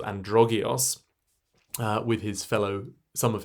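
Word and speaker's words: Androgeos: and here he is androgios um in fact it's a long o so androgas and then the main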